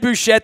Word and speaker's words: Bouchette: Find him at Ed Bouchette. That's 2 T's and the silent E on the end out on Twitter and at the Post-Gazette and KDKA and 93.7 up in Pittsburgh.